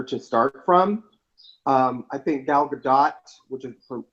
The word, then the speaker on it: Gal Gadot: I think Gal Gadot, which is the correct pronunciation of her name, even though people call her Godot all the time to her face and she doesn't correct them, so maybe it's both.